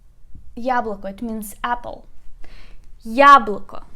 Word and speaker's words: яблоко: Яблоко. Яблоко, it means apple. Яблоко. Let's put a stress together. Яблоко. We put stress on the first syllable.